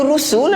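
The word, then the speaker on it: رُسُل: Kita kena baca rusul lah. Sebab dia je ra sin lam, rusul. Kalau dengar rusul tu pelik dah. Sebab apa? Rasul bukan rusul. Rasul ejaannya lain.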